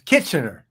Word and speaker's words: Kitchener: Kitchener.